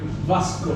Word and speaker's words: Vasco: How do you pronounce the name? Vasco.